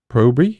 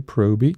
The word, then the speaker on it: Proby: Proby? Yes, that's how it's said. PJ Proby.